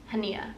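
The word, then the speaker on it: Hanya: want to look it up so I'm not pronouncing it wrong yagara hania yagara hania is how you say her first name I've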